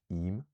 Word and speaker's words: im: So, um if we can imagine the words aum, time, and eem, butter, they have other forms, auma, which means of time, and ima, which means of butter. So, because we've added that second vowel, there's a vowel coming after what would have given us the length, and now there's no length at all.